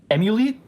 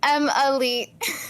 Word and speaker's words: EMUHLEET: have a very very special guest we have emul did I pronounce it right I need to make sure you're close it's m Elite M Elite okay okay so the U is